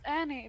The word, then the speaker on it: Anne: Like it's spelled Anne but pronounced Annie because I'm Swedish and special.